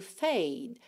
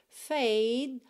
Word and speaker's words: fade: Você encosta a língua no céu da boca e já interrompe o som.